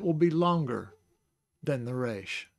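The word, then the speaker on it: ריש: be longer than the reish. So, reish. It's hard to get used to saying it that way, but that's the way it's supposed to be said.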